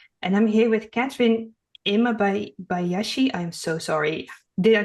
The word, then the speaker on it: Imabayashi: And I'm here with Katherine Imma Bayashi. I'm so sorry. Did I pronounce that right?